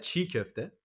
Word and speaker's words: çiğ köfte: So I think if I'm not mistaken, I think the C with a little thing under it, the goatee, is a J sound, right? Not so much. I No? would say ch. Ch. Ch. So is it chinkofte? Ooh, almost there. Yeah, çiğ köfte.